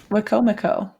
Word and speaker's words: Wicomico: Okay, how to pronounce it is Minokan and Wicomico. Oh, good. Minokan and Wicomico.